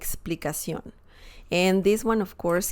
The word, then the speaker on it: explicación: easily due to that but just remember their pronunciation la explication like explicacion and this one of course can be plural